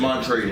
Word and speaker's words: Montrezl: Montrezl Harrell. Yeah, it's an L at the end of his name. So. Yeah, but it's just Montrezl. Okay, all right. L is silent.